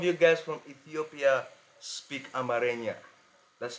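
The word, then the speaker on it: Amharic: so some of you guys from Ethiopia speak Amaria that's how he told me to pronounce it you know so in this video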